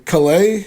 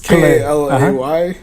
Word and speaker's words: Kalay: In Calais. I think I can't pronounce it. It's Kalay.